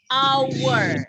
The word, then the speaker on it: hour: konsonan kita baca an Hour Hour ya ditulisnya hours dibacanya hour ngebor artinya 06.01 mukan